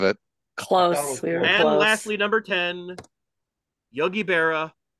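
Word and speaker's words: Yogi Berra: close lastly number 10 Yogi Bea definitely not Yogi Bear but Yogi be and there you go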